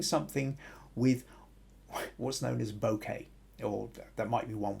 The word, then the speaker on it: bokeh: field they're wanting something with what's known as bokeh or that might be one way of pronouncing it b-o-k-e-h uh translation of the angle-sized